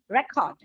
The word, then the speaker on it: record: well as verbs, but the difference is a stress on syllable. When it is used as a noun, it is record.